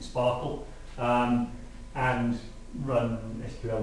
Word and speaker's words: Spark SQL: I think they were hoping people would pronounce it Sparkle, and run SQL like queries on your data.